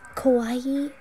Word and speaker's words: kawaii: Kawaii am I right Kawaii it sounds like Hawaii but uh uh Kawaii am I saying it right ah yeah you're very